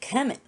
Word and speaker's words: Kemet: They called it Kemet. So that's why it's spelled out as KMT.